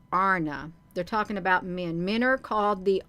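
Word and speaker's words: Ana: saying it right so if it says a n it is pronounced a RN if it's a n a it's pronounced Arna they're talking about men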